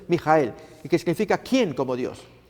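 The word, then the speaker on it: Mikael: pacto fíjense amigos como este ser miguel que significa su pronunciación es mi hija el que significa quien como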